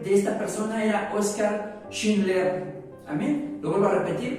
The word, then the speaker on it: Schindler: Oskar Schindler. De hecho, si ustedes se dan cuenta, la pronunciación del apellido es como muy alemán, ¿no? muy teutrón.